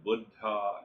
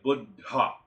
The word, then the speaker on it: Buddha: as Buddha and Awakening it is not Buddha as we Americans say you know the Buddha means the old guy it's a Sanskrit word or Hindi so when we say budha it means awakened it means awake so